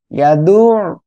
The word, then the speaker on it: يدعو: ইয়াদু, গলাটা চেপে উচ্চারণ করতে হবে।